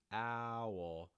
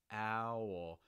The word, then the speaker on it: owl: word too owl owl i can hold the tip of my tongue the front of my tongue against the bottom of my mouth for that forward owl also you can see my lip position change as we go from the al to the oh owl owl so again